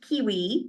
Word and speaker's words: KWE: through my website and even though it's pronounced kiwi publishing it's kwe uh so the website